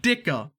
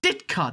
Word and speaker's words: Ditka: even richie endorsed by mike dicker dicta ditka that's how you say his name and again if you